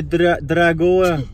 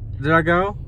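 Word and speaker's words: Dragão: We are in the Uber on the way to O Estadio de Dragoa. Is that how you say it? Dragao. Estadio de Dragao.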